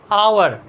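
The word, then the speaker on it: hour: भी H silent है, हावर तो होता नहीं है ना, आवर, आवर आ रहा है, एच साइलेंट है, तो इसका मतलब यहाँ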